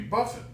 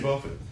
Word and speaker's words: Jimmy Buffett: __ ] is Jimmy Buffett I said Jimmy Buffett that's how you say it I thought it was Jimmy Buffet so so I was